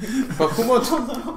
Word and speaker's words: Bahamut: Are you getting annoyed with the constant mispronunciation of your god's name? Bahamut.